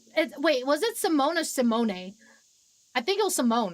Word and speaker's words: Simone: I know we haven't talked much, but I'm Simone. Yes, that's how you pronounce the name.